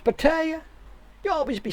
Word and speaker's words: Pattaya: Everybody knows it's pronounced Pattaya. You always be saying it wrong. Get with the program, man. It's Pattaya.